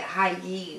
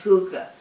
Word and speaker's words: hygge: way i would pronounce it because i would pronounce it high e right but it's pronounced hookah so i named my project hygge like a